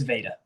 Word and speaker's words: Veda: I think it's Veda, I think is how it's pronounced. It's Veda.